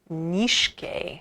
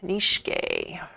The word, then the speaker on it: Nietzsche: I'm pronouncing this right, it's a German name, it's Friedrich Nietzsche. Nietzsche.